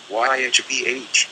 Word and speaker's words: YHVH: vibrating the God name, YHVH, pronounced Yod-Hah-Vah-Oh-Hah, an unspeakable name of God, spelled out here in its individual Hebrew letters.